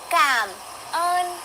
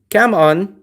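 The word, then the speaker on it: cảm ơn: Come on. Come on. Now watch. She definitely says it. You guys say, "No, it's cam earn." And they always make a point. Cam earn with a with an R.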